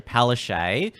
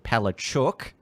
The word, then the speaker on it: Palaszczuk: Well, even Scott Morrison has been told by the Queensland Premier Anastasia Palaszczuk, who now a lot of people are now pronouncing Palachuk, using that more crass pronunciation.